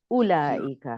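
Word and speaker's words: أولئك: पढ़ना शुरू कर दें उलाइका, नहीं, उलाइका नहीं है, वाव साइलेंट है, उलाइका है।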